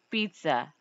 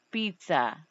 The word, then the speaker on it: pizza: Por exemplo, o ZZ, pizza, pizza, é como se fosse o TS.